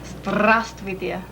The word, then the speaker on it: Здравствуйте: Здравствуйте. Здравствуйте. Здравствуйте. Уйта. Страс. Roll your R's more. Страс. Здравствуйте.